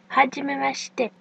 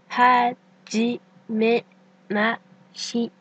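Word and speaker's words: はじめまして: Cela se prononce hajimemashite. En moins rapide, ça donne hajimemashite. Hajimemashite. Attention, on ne prononce pas J mais J.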